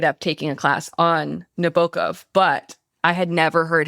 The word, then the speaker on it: Nabokov: We are talking about Humbert Humbert, the protagonist of the 1955 novel Lolita by Vladimir Nabokov or Nabokov is the correct pronunciation, but You can say whatever.